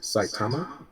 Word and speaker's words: Saitama: Then we have, I pronounce it Saitama. It's SAITAMA.